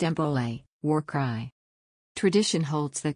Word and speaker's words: Bole: It was replaced in 2012 with the new bowl, pronounced Embole, War Cry.